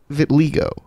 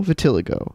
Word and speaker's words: vitiligo: Vitiligo. No, vitiligo. It's spelled differently throughout this.